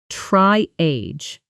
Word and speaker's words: triage: Try that sentence, feeling how it stresses, try age with the stress firmly on the first syllable.